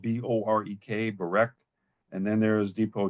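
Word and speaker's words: Borek: Then there's Depot 4, which is spelled B-O-R-E-K, Barek.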